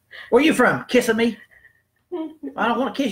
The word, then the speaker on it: Kissimmee: And the way that's spelled and the way us rednecks like to say it, which seems a lot more personable to me, is Kissimmee. That sounds a lot better.